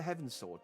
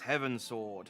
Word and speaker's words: Heavensward: It's like Heavensward, and it's like, okay, because we're going towards the heavens. It's like, no, it's pronounced Heavensward. Here you go, the Heavensward.